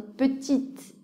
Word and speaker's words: petite: la fin ça donne petite ainsi on passe à prononcer le T mais pas le E voyons maintenant quelques combinaisons